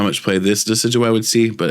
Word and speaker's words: Decidueye: Yeah, I don't know how much play this Decidueye would see, but it's cool.